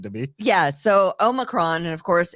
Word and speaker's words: Omicron: It's Omicron. It's not any of the other variations that you hear, but that is apparently, along with Dogecoin, the three most mispronounced words: 1, 2, and 3.